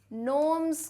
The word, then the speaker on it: gnomes: अच्छा, मैंने वैसे तो लेसन में बता दिया है, फिर भी भाई बता दूँ, ये स्पेलिंग GNOMES है, पर बेटा इसका प्रोनाउंसिएशन में G साइलेंट है, नोम्स करके आएगा इसका, NOMS.